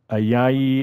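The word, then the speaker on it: Ayayi: lastly you've got joely ayahi is how you pronounce it like i and then yay he's added to the washington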